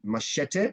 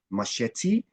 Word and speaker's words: machete: already have it pronunciation somebody said machete it's actually machete and one speaker spoke